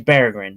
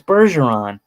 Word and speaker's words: Berggren: It's Berggren. That's, it sounds like it's kind of, if you look at it at a quick glance, it's not exactly the same, but I can see how some people could be like, oh, it's Bergeron, but not really.